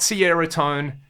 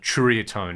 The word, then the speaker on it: Ceriatone: was kind of saying the way you pronounce that is it's like a true kind of sound which I'm not very good at so it's not Sierra tone it's not Saria tone there is that kind of Tria tone in there so I'm